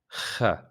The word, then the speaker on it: خ: Third letter in this group is kh. Kh. So this letter, it's kind of like when you clean your throat.